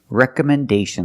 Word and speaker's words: recommendation: Rec recommendation letters. Recommendation. This word has five syllables. The stress is on the first recommendation. And the fourth syllable is stressed.